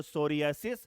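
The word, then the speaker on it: psoriasis: फिर मैंने P फॉर बात किया था बेटा, तो सोरियासिस। हाँ, P साइलेंट है बेटा यहां पर।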